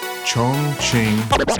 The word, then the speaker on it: Chongqing: Chongqing.